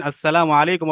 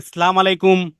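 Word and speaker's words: السلام عليكم: আসসালামু আলাইকুম এটা বলার ক্ষেত্রে আসসালামু মিমের পেশটাকে স্পষ্টভাবে উচ্চারণ করতে হয়, আলাইকুম আইনটাকেও স্পষ্টভাবে উচ্চারণ করতে হয়। কেউ কেউ বলে সালাম আলাইকুম, আসসালাম আলাইকুম, এগুলো কোনো কি না, সালাম না।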